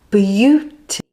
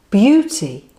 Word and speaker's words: beauty: But it sounds completely different to the way it's spelt. So let's take it slowly like this. B, b, bu, beauty, beauty.